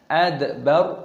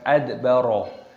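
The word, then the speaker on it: أدبر: Adbar, roknya dimatikan dibaca sukun adbar, bukan adbaro. Kalla wal qamar wallaili id adbar.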